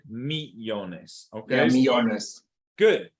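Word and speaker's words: millones: not Neil younges okay the Double L sounds like a y okay be honest I'll be honest I see Ico yeah I'm probably doing Italian sorry right me Jonas okay let me honest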